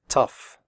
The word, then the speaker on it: tough: pronounce the word correctly the o-u-g-h in tough is pronounced off like in stuff tough recipe if you have